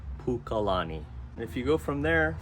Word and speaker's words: Pukalani: it's also part of up country and it's pronounced Pukalani if you go from there further to the